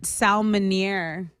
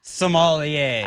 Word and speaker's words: sommelier: private salmonier? Oh, the people that know a lot about wine. Oh, okay. You I know, believe it's Salmonier. pronounced sommelier.